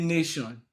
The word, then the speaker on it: nation: and when you say nation, the Mm-hmm.